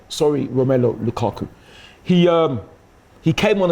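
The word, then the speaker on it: Romelu Lukaku: understand let me say his name right sorry romelo Lukaku he um he came on as a sub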